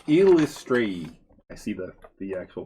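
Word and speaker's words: Eilistraee: Oh, it's Illustrae. I see the actual pronunciation. Illustrae. Illustrae. Well, that's a mouthful. Illustrae. Because Trey is the accent.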